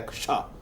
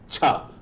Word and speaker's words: क्ष: ये शब्द बना है, तो उसका उच्चारण क्ष होना चाहिए, ना कि छा। हम छा बोलते हैं जो गलत है।